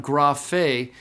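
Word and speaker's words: γραφή: going to be, but notice on graphe that gamma rho are two consonants together, but they can be pronounced together, so they're kept together with the following vowel, graphe.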